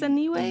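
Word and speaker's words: Tzeniwe: cineway it's anyway how would how would you pronounce that t-z-e-n-i-w-e okay it's an e-way it's an e-way that's how i would pronounce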